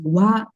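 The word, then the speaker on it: は: the topic followed with wa. But it is actually HA. When you type also, you will type H and A only. Right? But when you pronounce only, we will say it as wa.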